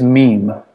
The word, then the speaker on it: meme: me m It Is MeMe it is meme okay meme um as